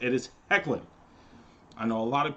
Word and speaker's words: Hoechlin: Cassadine Superman and yes that is how you say his last name it is heckling not hoechlin I don't know where people